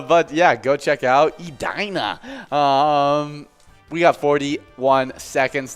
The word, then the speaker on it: Edina: it ended up uh it's uh it's not edna it's not ed in uh it's edina uh something that i did not expect at